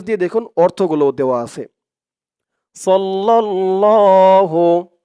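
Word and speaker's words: صَلَّى اللَّهُ: দেখুন অর্থগুলো দেওয়া আছে সাল্লাল্লাহু সদ দিয়ে লাম ধরবে সদ লাম জবর সদ লাম দিয়ে আবার এলাম ধরবে লাম লাম জবর লাল সাল্লাল্লাহ লাম খানা জবর ল ল এক আলিফ টান সাল্লাল্লাহু সাল্লাল্লাহু আলাইহি আ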